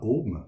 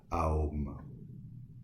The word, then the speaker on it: Aum: de la bouche humaine, qui se prononce d'ailleurs pas Om, mais A-O-M, A-O-M, Aum.